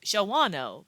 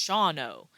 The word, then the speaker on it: Shawano: so it looks like Shawano but as I was reminded several times it's pronounced shauno the other a is missing presumed dead anyway so part of